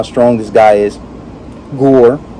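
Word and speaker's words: Gorr: strong this guy is gore which rhymes with thor jj i see what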